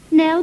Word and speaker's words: Knell: you can stop looking my name's belle it rhymes nail bell we don't know each